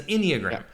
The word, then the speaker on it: enneagram: a mammogram it's an enneagram okay um and it starts with e e neogram so i think like eeny sort of like eenie money enneagram has anyone done the